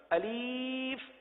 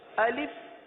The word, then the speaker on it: الف: الف. اب اس کو الف پڑھنا یا الف پڑھنا یا الیف پڑھنا، یہ غلط ہے.